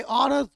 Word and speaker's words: honour: ये भी हम नाउन है, बट इसका उच्चारण ऑनर औ की तरह हो रहा है, यानी वॉवेल की तरह हो रहा है।